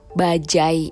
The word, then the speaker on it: bajaj: Para pendengar bingung kok pengucapan kata bajai ini agak berbeda ya dengan bahasa Indonesia yang biasanya sebenarnya bajay masuk ke Indonesia dari India di tahun -an nah